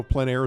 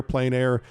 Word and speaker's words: plein air: you who don't know plein air is a French term essentially meaning open air or outdoors the French say plan others say plane it doesn't matter how you say it plein air plane air it's a huge movement